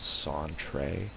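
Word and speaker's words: Sentri: not remember me I'm Century I think it's and I think an Ultima six he actually specifies that it's pronounced santre uh we've got adventuring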